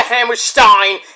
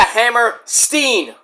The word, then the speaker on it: Hammerstein: built not the hammer Stein not the it's not it's not the Manhattan Center it's the hammer Steen Borum if you can't if you pronounce a hammer Stein I'm I'm GNA come